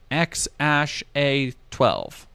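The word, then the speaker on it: X Æ A-12: age of his son X Ash a12 which is how you pronounce that other deleted tweets are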